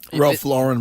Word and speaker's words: Ralph Lauren: that I got on Ralph Lauren by the way is how you pronounce it is it is it